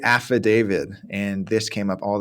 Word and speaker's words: affidavit: word let's see uh how I've heard this pronounced Aid David we have to give an aid David pretty close and so I would say affidavit and this came up